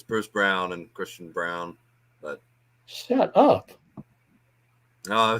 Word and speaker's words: Christian Braun: he missed the free throw uh basketball reference pronunciation Christian Brown foul on Jeff Oberon I mean Brown okay